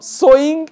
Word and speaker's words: sewing: the title is Home sewing Revival Home sewing this word is so s e w s o w both are pronounced as so Home sewing Revival means